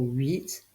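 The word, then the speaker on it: huit: h u i t le mot 8 commence par une lettre muette le H le son 8 s'écrit u i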